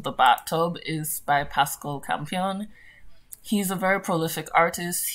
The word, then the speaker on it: Campion: Yep, Campion, there we go. I was trying to make sure I pronounced that right.